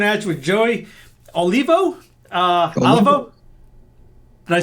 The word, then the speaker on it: Olivo: Olivo? Did I say it right? Olivo.